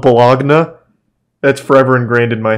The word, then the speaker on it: Bologna: In 1296, Bologna invaded and took a couple territories from Modena, which their buddy in the papacy confirmed to be legitimate. Is this not pronounced Bologna? This is 100% pronounced Bologna, right?